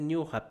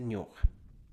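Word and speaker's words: ñuqa: La escritura tiene que ser ñuja, pero en la oralidad puede ser ñoja, ¿ya? O noja también.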